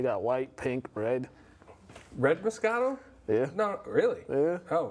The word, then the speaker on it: Moscato: Moscato. Moscato, okay, good. Yeah. So I did do it right. White. They got white, pink, red. Red Moscato?